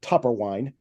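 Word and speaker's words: Toepperwein: the toe part to make sure that people pronounce it topper wine that was taken out in their original uh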